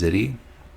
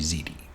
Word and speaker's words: ziti: We pronounced it wrong previously. I thought it was Ziti. It's actually Ziti.